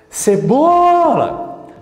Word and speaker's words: cebola: vou chamar o cebola cebola cebola Qual a sílaba que se esticou que eu falei que eu pronunciei mais forte você vai me dizer que é o BO então o BO é a sílaba tônica por que que que